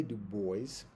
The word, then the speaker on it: Du Bois: um one of the reasons why I say du boys for a long time actually is because at